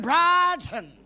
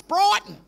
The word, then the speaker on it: Brighton: brad i live in bratton they can't even pronounce their own suburb it's brighton but you know the